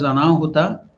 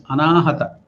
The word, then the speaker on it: Anahata: So don't pronounce it as Anahuta. It will, Anahuta means danger, accidents or danger. So it is Anahata.